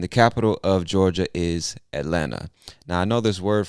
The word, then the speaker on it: Atlanta: in this word elena we don't pronounce either one of them say atlanta atlanta atlanta georgia now